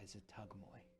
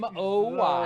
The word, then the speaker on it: Zuggtmoy: By Zatugmoy. The Tuckmoy. That's an And how might you spell that? Forget about it. Zuggtmoy.